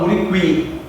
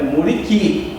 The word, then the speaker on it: muriqui: Porque no muriqui o som do U não é pronunciado. Ninguém fala muriqui, é muriqui.